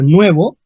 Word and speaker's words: nuevo: en español en español es la palabra nuevo y se pronuncia con un diptongo Noé y un aplicativo nuevo